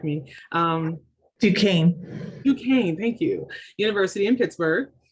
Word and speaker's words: Duquesne: She received her bachelor's in pharmacy from I'm going to mispronounce this, Trish, you're going to have to correct me. Duquesne, thank you.